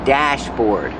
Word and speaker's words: dashboard: And this is the dashboard. Pronunciation, use the short A like black cat and apple.